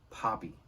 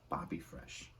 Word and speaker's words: Papi Fresh: And it's not pronounced Poppy. Papi Fresh. Okay?